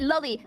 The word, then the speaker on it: loli: No, and by the way, I pronounce it lolly, like Lolita, which is the fucking book that the term originates from, all right?